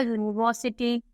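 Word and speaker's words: university: आता है with sound of य जैसे अ यूनिवर्सिटी तो ये स्टार्ट तो वल से हो रहा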